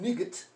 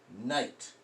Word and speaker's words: night: way we do it and then night again this isn't nigut it's night the eyes long the G silent the H is silent that's just what those